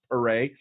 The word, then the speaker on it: Pere: I got my leatherneck friend from the West Left Coast, my boy David Pere, like hip hip hooray, but pronounced Pere.